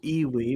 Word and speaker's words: IWI: is just a bonus you could pronounce this E Lee but I believe it's iwi Israel weapon Industries could be Evie though I kind of